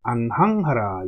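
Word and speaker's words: 雁行: 그 다음에 형제 이하야 행즉 안항하라. 요 뒤에는 항이라고 읽는다고 그랬죠. 자, 형제가 기쁠리가 두 개가 있는 모습입니다.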